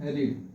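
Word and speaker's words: read: रीड। तो will have रीड। Third form में रीड ही होता है। हालांकि उसको प्रोनाउंस करते हैं रीड। तो राधा will have रेड story.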